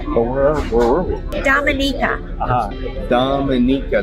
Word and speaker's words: Dominica: as well so everybody was Dominica so it's Dominica we stand I stand corrected I don't know